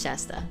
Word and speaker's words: Shasta: Okay, it is Shasta.